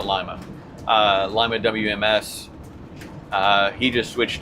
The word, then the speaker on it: Lima: And Mark, Lima WMS, Lima, they pronounce it Lima.